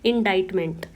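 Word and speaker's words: indictment: इसको इसका जो सी है उसको हम प्रोनाउंस नहीं करेंगे क्योंकि सी साइलेंट है इसमें। और इसीलिए मैंने यहां इसकी प्रोनंसिएशन मेंशन भी की है। इनाडाइटमेंट।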